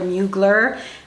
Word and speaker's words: Mugler: Mine is a vintage Thierry Mugler, or Mugler, but it really is pronounced Thierry Mugler.